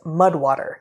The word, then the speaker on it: MUD/WTR: Okay, our third sponsor, our third and final sponsor this week, is Mudwater. That's MUD/WTR, pronounced Mudwater.